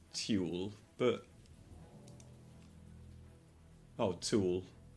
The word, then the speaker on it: tulle: It doesn't look like it's pronounced tulle, but oh, tulle. Tulle in American English rhyming with pool.